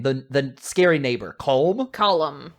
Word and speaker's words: Colm: The scary neighbor, Colm? Column. Like a column that supports a house in the basement? Yeah, that's how you pronounce it.